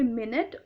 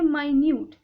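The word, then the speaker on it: minute: इस वाले को हम लोग प्रोनाउंस करेंगे मिनट और इस वाले को प्रोनाउंस करेंगे माइन्यूट। इसका मतलब होता है 60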